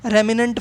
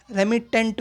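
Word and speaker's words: remittent: पूरे दिन, है ना, तो उसको रेमिनेंट फीवर बोलेंगे, रेमिटेंट फीवर, ठीक है, प्रोनाउंसिएशन होगा रेमिटेंट फीवर, है ना।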